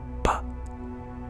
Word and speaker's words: pa: I believe it's pa, like the letter P, P-A, pa.